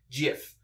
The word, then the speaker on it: Giff: or half the people however in some places it is accepted to pronounce it Jif I know where to